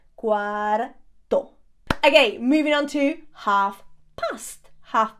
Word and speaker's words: cuarto: Be very careful because the word cuarto, which also means bedroom, by the way, cuarto, sounds very, very similar to the number 4. Cuatro. So how would you say it is 4:15? Son las 4:15. Son las 4:15. Don't get it mixed up, okay? pronounce that R, cuarto.